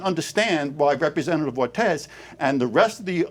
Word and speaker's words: Ortiz: It's pronounced Representative Ortiz, Senator Kavanagh.